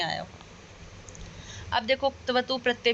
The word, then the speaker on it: क्तवतु: कतवतु प्रत्यय बोलेंगे तो पूरा क और त का उच्चारण होगा जो गलत होगा, तो या तो त प्रत्यय बोलते हैं या फिर हम बोलते हैं क्तवतु प्रत्यय, मतलब क की भी आवाज आए थोड़ी सी कंठ से और त की भी आवाज आए।